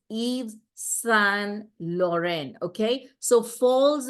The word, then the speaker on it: Yves: I would say Yves, but it's not Yves, it's French. You know, French are more obsessed with their pronunciation than the language itself.